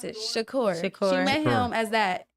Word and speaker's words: Shakur: respected him as Tupac if he was uh Shakur Shakur or whoever he was when he was acting and doing ballet.